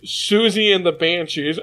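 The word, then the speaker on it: Siouxsie and the Banshees: Anyways, Susie and the Banshees. I believe that's how you pronounce it.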